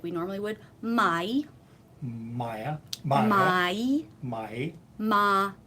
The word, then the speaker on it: mai: Maya. My. My. Ma. E. My. My. My. Right. It's like two syllables.